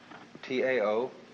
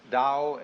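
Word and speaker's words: 道: T AO pronounced dao in the Mandarin dialect, tao in the Shanghai dialect, toe in the Cantonese dialect.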